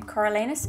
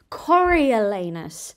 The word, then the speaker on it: Coriolanus: just playing Cor snow I think that's how you say his name coralus it's a weird name sorry if I got it wrong apparently it's actually cor elanus so excuse me so